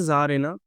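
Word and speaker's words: czar: थोड़ी सी spelling mistake है। ठीक है? होता क्या है बेटा? इसका पहले तो फेमिनिन बनता है जारेना और इसका बनता है एस ज़ना।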